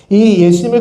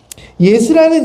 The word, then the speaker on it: 예수: 여호수아는 이름 역시 예수입니다 여호수아는 히브리식 발음이고 예수는 헬라식 발음입니다 그 차이만 존재할 뿐이에요 예수라는 이름은 그 당시 또